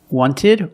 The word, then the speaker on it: wanted: Wanted or wanted. It's more common to hear Americans say wanted.